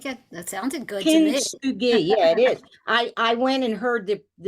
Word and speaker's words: Kintsugi: Kisugi. I wanted to make sure I said it right. Kisugi. I think that sounded good to me. Kintsugi.